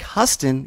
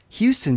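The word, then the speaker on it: Huston: saw this with Stacie Howard she said Jack hustin even though it's pronounced Houston but the way that she mispronounced it it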